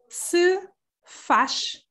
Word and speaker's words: se faz: And there's the pronunciation, se faz. So you see that the Z at the end or Z at the end is going to be transformed into a sh sound.